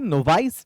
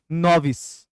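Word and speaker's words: novice: ये नोवाइस नहीं, एक्चुअली इसकी सही प्रोनाउंसिएशन है नोविस।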